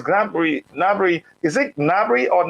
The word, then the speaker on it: Gnabry: granberry navarry is it gnabry or not the g is silence right so it's it's uh g is silent so it's gnabry nary is a very